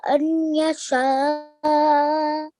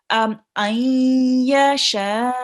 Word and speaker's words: أن يشاء: Okay, so if there is a noon sakin or tanween preceding a ya or a vowel, you will be doing ghunna. Okay, so this here you will be reading this noon here, you will be reading with a ghunna sound, and you can sit